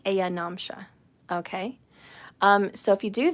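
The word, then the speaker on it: ayanamsha: the heavens la hiri it's spelt lahiri but it's lahiri ayanom shan which sounds like aya namsha okay so if you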